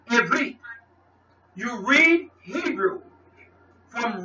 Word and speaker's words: Ivrit: It is Ivrit.